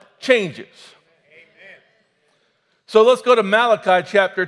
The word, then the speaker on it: Malachi: me at one time that it was not mulashi it was Malachi but I don't think it really matters how you pronounce it and this is a word from